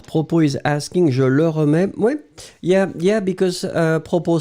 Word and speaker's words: remets: So, in that situation, phonetically it will be, in fact, exactly the same, but then, as usual, we will write it slightly differently. Je remets, don't forget the S in the end, so TS. Tu remets, TS, same form. Il, elle remet, and it will be only T. We pronounce these three forms the same way, but you should really